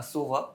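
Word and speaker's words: Sova: uh from valerent I mainly do SOA uh SOA is how you pronounce it and Omen okay they're more calm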